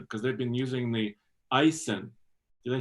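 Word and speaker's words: Aisin: this the I the icin and I'm like Aysen but it's pronounced Ison yes so they've had that six feet rightful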